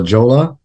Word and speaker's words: Jolla: Yes, LL together is a Y sound. La Jolla, and of course J in Spanish is a H sound. La Jolla Munchkin houses.